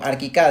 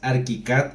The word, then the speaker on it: ArchiCAD: Ojo, que pronuncias ArchiCAD y no ArchiCAD como muchos lo conocemos. Sí, digo, en México entendemos que la gente por la CH lo dice como Archicad, pero Archicad. la Sí.